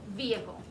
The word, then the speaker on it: vehicle: people's accents they do say the h especially in the south so you might hear somebody in the south say vehicle but i say it most people will say it vehicle it'll be a silent h okay um let's see